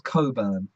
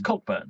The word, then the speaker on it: Cockburn: What about if your surname's Coburn? Have you ever seen a Coburn? It's Cockburn. Yeah, Cockburn. It is, but then again, there's another one like that, isn't there?